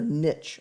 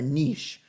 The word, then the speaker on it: niche: organism has which is their niche or their niche I've heard it said both ways before you can really pronounce it either away but it's the role